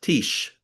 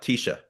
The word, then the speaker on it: tish: Well, so remember, um, whenever you have a silent Shabbat, it doesn't make the consonant sound silent. It just closes the syllable. So So instead ti, of T and the shin being, evaporating, it's tish. sheesh. You just don't have a sound after it. So it's not tisha, it's tish. So tish, Mm-hmm.